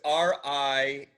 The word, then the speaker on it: Riendeau: So it's Riendeau. Deau. Like in French, it would be Riendeau.